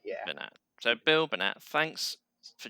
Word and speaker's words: Bernat: it's Bernat.